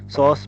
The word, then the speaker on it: psoas: एक सॉस major है, P silent होता है इसमें, PSOAS, और दूसरा है सॉस माइनर।